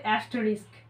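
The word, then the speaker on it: asterisk: তো এটা স্টার নয় এটার একচুয়াল নাম হচ্ছে অ্যাস্ট রিস্ক রিস্ক একদম যেরকম রিস্ক উচ্চারণ হয় ঠিক সেই রকমই অ্যাস্ট রিস্ক ঠিক আছে এই চিহ্নটাকেও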